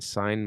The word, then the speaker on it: sign: With an accent like possess, G in sign must silent be. In signature, pronounce the G.